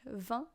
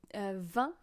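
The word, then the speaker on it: vingt: French here so yeah you say van as you would say wine but you do not pronounce the G and the T they just exist you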